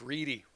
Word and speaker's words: Reddy: And remember, my last name is spelled Reddy, but pronounced Reedy. It's Reedy.